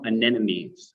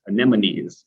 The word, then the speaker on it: anemones: variety as well as some anemones anemones rather it was a fun one to pronounce but a little bit